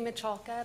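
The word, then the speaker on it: Miculka: My name is Michalka. My first name is spelled M-I-S-S-Y, last name M-I-C-U-L-K-A.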